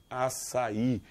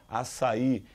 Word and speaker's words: açaí: adoro isso aqui ó açaí açaí é uma oxítono terminado em i não era para ser acentuada só que formou um iato aqui eu tenho a vogal a não é e a vogal I estão em sílabas separadas o i está forte então ele vai ser o quê acentuado então bastante cuidado com